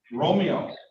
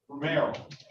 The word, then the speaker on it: Romero: let's move on to uh jermaine uh uh romeo romero romero yes i'm here uh give me the pronounce that your first name sir jaime would